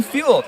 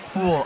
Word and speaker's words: Fuel: Brennan Fuel, watching my brother Brennan from Strathmore, Alberta. Go Capers, go. Oh, sorry. I'm sorry about the pronunciation. It's pronounced fuel, not fool.